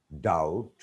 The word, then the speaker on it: doubt: Comb, tomb, basically, date, doubt. B isn't pronounced.